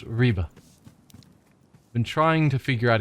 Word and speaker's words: Ribe: Also, it's pronounced Ribe.